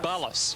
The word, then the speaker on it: Ballas: last week sam that bullis is a good name for an umpire brian tells me before the matchup is pronounced ballas tolo couldn't hold out